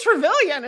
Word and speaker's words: Travillian: Yeah, it just call me Travillian.